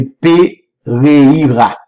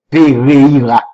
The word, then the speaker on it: Pereira: Donc, il y a eu l'émotion, Pereira, mon qui est au Brésil, nous a aidé, prononcer bien, c'est Pereira. Pereira.